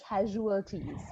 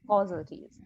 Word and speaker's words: casualties: one pronounced properly okay the word is casualties not cause causalities casualties um i heard hitler's